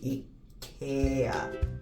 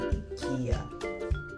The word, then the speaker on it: IKEA: I want to be if it's the Swedish accent it should be eat here which I was saying in Kia okay continue 6A Ikea